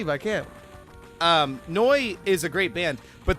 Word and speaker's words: Neu: No, it's spelled like NEU. N-E-U. Oh, that's N-U-E. Yeah, it's it's Noi.